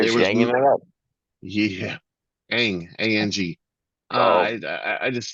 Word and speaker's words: Ang: This Cathy Ang is her sister. Ang is her sister. Sweet. You're just hanging it up. Yeah, Ang, A-N-G.